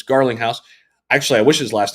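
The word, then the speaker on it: Garlinghouse: um you know uh it's not garlic house but it's Garling house actually I wish his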